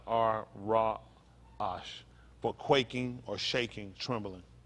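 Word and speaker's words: ra'ash: hyphen a s pronounced rajash pronounced with the a s h at the end of it r r a accent um a-s pronounce our raw ash for quaking or shaking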